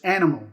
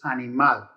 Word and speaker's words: animal: stress the last syllable in english it's animal you stress the first syllable in spanish it's animal you stress the last syllable so those are examples